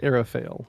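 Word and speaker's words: Aral Fayle: fail or something like that, because The narrator pronounces like Arafael.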